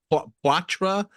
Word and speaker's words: Poitras: No, Matt Poitras. I think that's how you say his last name.